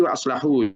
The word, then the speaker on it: wa aslahu: Jadi yang pertama tadi wa aslahu, cara bacanya short ya. Wa aslahu. Kalau ini wa akhlasu. Jangan keliru, jangan kebalik ya.